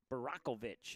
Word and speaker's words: Barakovic: I was told a different way. Barakovic is the correct way to say his last name.